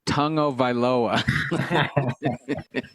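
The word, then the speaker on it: Tagovailoa: It's pronounced Tungovailoa.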